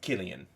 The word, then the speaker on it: Killian: Oh, it is pronounced Killian. Okay. Sorry about that. Killian is Sicilian.